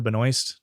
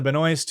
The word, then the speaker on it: Benoist: On Glee, he dates and married fellow Glee actress Melissa Benoist, which actually she pronounced Melissa Benoist because she doesn't want to pronounce it French. So Melissa Benoist, who plays Supergirl on the CW.